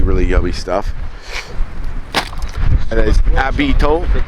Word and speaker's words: habitant: And as habitant in French they don't pronounce the H when it's at the beginning.